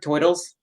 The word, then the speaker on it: turtle: i hope you like toils um if you pronounce the turtle screw you i'm from new jersey so in new jersey you pronounce it toil because that's the proper way to pronounce it thank you very much